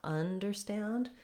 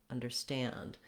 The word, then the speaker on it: understand: It's not understand. We're short on both of those, understand. So we're stretching and lengthening on the stand syllable with our black cat vowel.